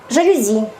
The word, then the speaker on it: жалюзи: то просто по привычке жалюзи слова французская поэтому сохраняется но норма французского языка соударения падают на последний слог завидно здесь 99